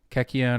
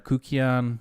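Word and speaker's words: kykeon: There's evidence to suggest that Kekion or Kukion, there's people pronounce it different ways, was drank during the Lucinian Mysteries.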